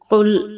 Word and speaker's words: قل: بسم اللہ الرحمن الرحیم۔ قل اعوذ، قل قاف ہے، ہم اسے موٹا کریں گے۔ قل اعوذ، یہاں عین